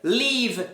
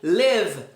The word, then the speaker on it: live: Então, basicamente, ou a letra I vai ser pronunciada como um I, ou a letra I ela vai ser pronunciada como uma letra E. É como se fosse um E com acento circunflexo. E. Então não é live, é live.